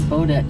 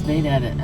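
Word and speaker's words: Baudette: Looks like Bodet to me, but it's Bett.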